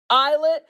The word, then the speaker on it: islet: how do you say it I don't know eyet eyet ha okay I got it together now it's pronounced eyet it's spelled islet but don't joke about me